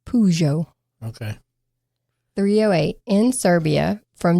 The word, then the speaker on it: Peugeot: I looked up how to pronounce it and it said Peugeot Okay.